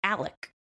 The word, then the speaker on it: Alex: And he pronounces it Alec, which is I find weird.